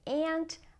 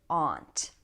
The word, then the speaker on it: aunt: Okay, next we have the word aunt, and some people say aunt, other people say aunt. You can say it either way.